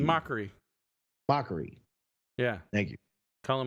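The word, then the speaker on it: Mochrie: they would make fun of drew i can't pronounce his last name but it's colin moochie m o c h r e r i e m o c h r i e mockery mockery yeah thank you colin macri yes yeah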